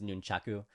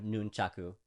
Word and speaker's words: nunchaku: the Japanese ways is nunchaku so Japan has five vowel sounds uh okay so noon chaku is the proper way